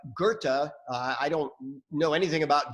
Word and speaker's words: Goethe: Shakespeare and I know this doesn't look like Goethe I don't know anything about German but I know that's how we pronounce his name but here's what Goethe said